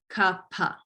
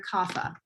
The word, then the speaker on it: kapha: going to hear it the correct pronunciation per sanskrit is ka-pa nobody i will say